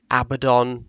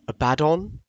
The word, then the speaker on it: Abaddon: But Abaddon the Despoiler, yes, that's right, I pronounce it Abaddon, not Abaddon.